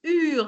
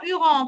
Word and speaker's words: eurent: Non, non, on ne dit pas hurant, on ne prononce pas hurant. Les enfants eurent Oh, le cœur serré.